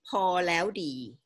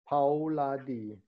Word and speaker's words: พอแล้วดี: You have to pronounce the project names like PorLaewDee. PorLaewDee.